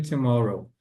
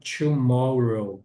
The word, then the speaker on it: tomorrow: E vocês viram que a minha pronúncia aqui no tomorrow, esse TO aqui é bem sutilzinho. See you tomorrow. Não é o TO exagerado, né? Não é tomorrow.